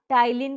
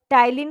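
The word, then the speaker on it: ptyalin: टाइलिन होता है sorry टाइलिन की स्पेलिंग पी से शुरू हो गई है होती है पी से यह स्टार्ट होती है टाइलिन यह आपके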